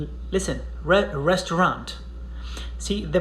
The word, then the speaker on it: restaurant: air it's okay but at least don't pronounce the final t and it comes from